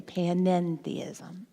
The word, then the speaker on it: panentheism: That's what that little extra syllable means, the end, the panentheism.